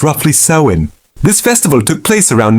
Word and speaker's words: Samhain: The biggest most important transition was marked by a festival called Sam Hine pronounced roughly sewin.